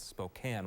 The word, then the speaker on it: Spokane: Later tonight, it's 2 teams from 2 places that people take liberties with the pronunciation. Syracuse, Spokane, Washington. It's Spokane, Washington, home to Gonzaga University.